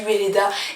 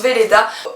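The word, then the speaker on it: Weleda: dessus dans ce cas-là donc j'ai dit Weda et maintenant je sais que ça se prononce Veleda sachant que honnêtement ça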